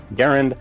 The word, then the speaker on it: Garand: ideas, the M1 Garand, and yes, I'm pronouncing it right. Well, that is how John Cantius Garand himself pronounced his name. Garand, that's the way I have chosen to pronounce the name of his rifle. It's not the one that's in most common use in the US, but I think it's appropriate to call it the same way he called himself and his rifle himself.